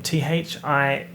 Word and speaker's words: Thierry: And then next to Kim Kardashian is, I don't know how to pronounce this name, Thierry. It's like Terry, but not.